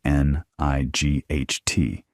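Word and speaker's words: knight: You spell it K N I G H T, but you say night. At one point, English speakers actually pronounced that K, that hard G, that guttural sound in the middle.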